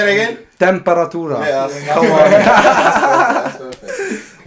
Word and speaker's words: Temperatura: The correct pronunciation? Say it again. Temperatura.